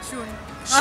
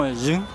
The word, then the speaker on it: Zhuun: Listo, no, yo quiero saber cómo se pronuncia tu nickname. Shun. ¿Shun? Sí. ¿Es chino? Sí, es japonés. Chino, es chino. ¿Y no sería como Jun?